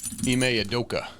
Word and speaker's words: Ime Udoka: Ime Udoka.